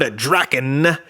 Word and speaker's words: Drakkon: This is a look at the brand new from the Super 7 MMPR Ultimates line, Lord Drakkon.